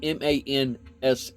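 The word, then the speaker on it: Manse: so it's kind of wild because the word is spelled m a NS e and I was like how in the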